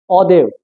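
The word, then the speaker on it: hors d'oeuvre: क्या है पहला है ददेव ये प्रोनंसिएशन बहुत अलग है जब स्पेलिंग लिखोगे तो बहुत अलग रहेगा तो आप इस पर मत जाना मेरा कहने का मतलब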